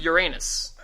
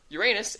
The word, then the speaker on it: Uranus: Name Uranus.